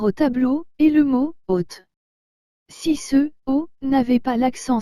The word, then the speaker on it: haute: le prononcé ainsi haute vous remarquez que la lettre h avec le haut avec accent circonflexe se dit oh et que la lettre t suivi de la lettre e doit se prononcer te donc toutes ces lettres ensemble donne haute toujours sans prononcer la lettre e à la finale selon ce que je